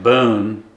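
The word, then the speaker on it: Beaune: Renting a one-bedroom in Djon or in Boone, that's the way they pronounced it, will set you back probably about $600 to €800 a month.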